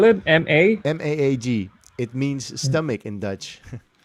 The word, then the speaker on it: Maag: Yeah, but if you can watch the Maag, MAAG, write it down, get it.